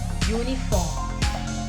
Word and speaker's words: uniform: at this word it's uniform uniform begins with letter u which is a vowel however the sound that it produces is that of your uniform your sound which is a consonant sound and hence though this